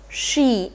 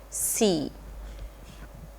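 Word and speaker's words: し: so this is she we need to understand the pronunciation here this is sa but this is she and not C next is Sue first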